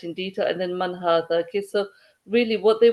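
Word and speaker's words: هذا: So it says Hada is pronounced as Hada, but it is written without the first alif, okay?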